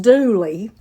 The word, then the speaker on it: Dula: A man named Tom Dooley, D-U-L-A, pronounced Dooley, was convicted and hanged for the crime.